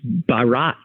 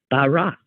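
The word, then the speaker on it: Bharat: how to pronounce it it's Barat b h a a t Barat and in fact when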